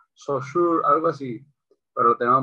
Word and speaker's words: Saussure: Bueno, se pronuncia Saussure, algo así, pero lo tenemos muy cool y diciendo, eres el significado de mi significante.